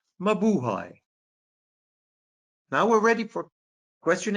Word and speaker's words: mabuhay: When you read a Philippine word, you just cut it syllable by syllable.